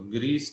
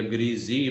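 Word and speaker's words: greasy: ग्रीसी या ग्रीजी बेटे दोनों इसके तलफ़ुज़ चलते हैं, अमेरिकन ब्रिटिश दोनों के अंदर इवन जो है ये डबल प्रोनाउंसिएशन है, ग्रीसी भी है ग्रीजी भी है, दोनों ठीक है।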